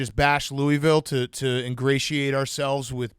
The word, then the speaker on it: Louisville: come down here and pronounce louisville and just to kind of stab you and say hey it's louisville and i've kind of taught myself to have that like gargle on the back of my throat whenever i'm pronouncing it just to not piss